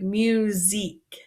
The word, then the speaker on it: musique: T and then La musique this sound might be a little bit hard because it makes a z sound instead of this s so it's like musique and then lastly we